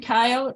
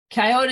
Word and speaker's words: coyote: Coyote is pronounced here in New England. People say coyote. Where I grew up out west, they call it coyote. It's still the same critter, no matter how you pronounce it.